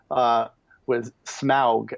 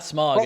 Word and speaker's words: Smaug: In the film, but he does state that in those appendices it said that the combination of AU was supposed to be pronounced "ow" as it is in German.